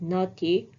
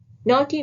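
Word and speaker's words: knotty: is not key so K is not going to be pronounced but naughty with k n o t d y naughty means complex difficult to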